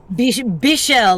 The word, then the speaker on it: Bichel: Bichel, like Michelle but with a B.